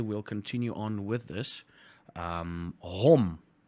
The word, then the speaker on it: hom: Hom. Hom. Basically, as you see it. Not home, hom.